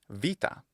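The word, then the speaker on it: βήτα: Now Greek also add the change of the letter beta into in modern Greek it's pronounced vita. It's a labio dental fricative va.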